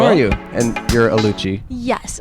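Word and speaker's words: Oluchi: Will hi Will how are you and you're aluchi yes aluchi how spell that o l u c h i it'll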